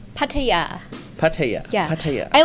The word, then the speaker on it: Pattaya: asking about the pronunciation nettie how do you pronounce pattaya correctly pattaya pattaya yeah i like the way you said